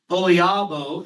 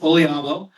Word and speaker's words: OLIABO: And somebody asked a question, Olabo is how we pronounce it. Olabo.